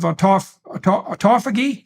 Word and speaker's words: autophagy: And then there's a separate set of benefits that go along with the keto diet / fasting, and that's the encouragement of autophagy.